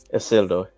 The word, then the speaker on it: Isildur: Isildur.